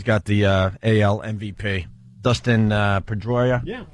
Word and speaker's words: Pedroia: Dustin Pedroia.